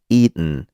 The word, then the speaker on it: eaten: un son N, souvent la lettre T ne se prononce pas.